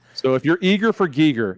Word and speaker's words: Giger: I've seen an interview and it says I'm eager for Giger, so that's how I remember it. I love that. Okay. So if you're eager for Giger, it's H.R.